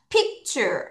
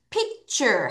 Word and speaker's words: picture: ure 하면 your 발음이 나는 거예요. 그래서 t까지 하면 다시 발음이 다시 자, 그럼 끊어서 해볼게요. 따라하세요. picture 앞에 강세했다. 좀 시작. picture 다시 picture 한 번 더.